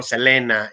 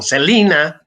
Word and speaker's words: Selena: que produce la frontera el caso de selena que decimos en méxico selena y en eeuu se le dice se le conoce como celina pero se escribe exactamente igual es el caso icono